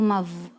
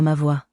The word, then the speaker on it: ma voix: Why is there an X if you're not even gonna say X?